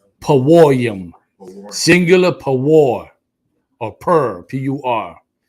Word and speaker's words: Purim: Paworium, singular pawor.